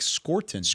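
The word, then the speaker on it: Scourton: Nick Scorton, how you say his name, but you'll you'll be saying his name a little bit or maybe a lot with the Carolina Panthers there.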